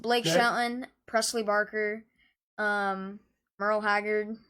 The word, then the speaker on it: Merle: Shelton, Presley Barker, Merle Haggard. Good job, you said it right. Yeah, not Murley.